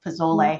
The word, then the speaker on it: pozole: Lacey just corrected my pronunciation of pozole earlier.